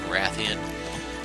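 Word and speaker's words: Rathian: and I mentioned before I always called them with a long a as in gray thean rather than Ratheon so you'll probably hear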